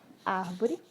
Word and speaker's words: árvore: A proparoxítona, que é a antepenúltima, tá? Aqui a palavra árvore, né, é a antepenúltima. Aqui temos a última, a penúltima e a antepenúltima. Então, a sílaba ar de árvore é a sílaba com mais tonicidade.